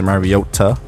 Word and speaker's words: Mariota: I think his mom said his name the correct way to say it's Mariota.